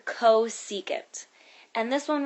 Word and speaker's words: cosecant: how you pronounce these this one that says CSC that stands for cosecant and this one right